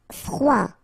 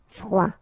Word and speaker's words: froid: Froid. Final D not pronounced. Froid.